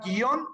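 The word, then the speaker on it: guion: De ahí, por ejemplo, que la palabra guión no lleva tilde. Aunque parecería, hay que ponerle la tilde en la O, no. Porque guión se pronuncia en una sola sílaba.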